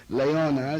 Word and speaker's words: Leona: Leona, I told you last time you were here, Leona, that Leona, that's how you pronounce it in Polish, is my mother's name.